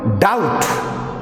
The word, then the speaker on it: doubt: For example, doubt, the spelling is DOUBT. So here B is silent.